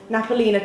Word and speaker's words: Napolina: How do you pronounce this? Napolina? Yes. Napolina tomato and chili sauce because it's so good and it's only like 80p as well.